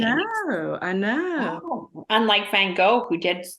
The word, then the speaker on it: Van Gogh: always get it wrong I know people say it all like Vanguard yeah and Van Gogh is pretty much how I always say it of course yeah I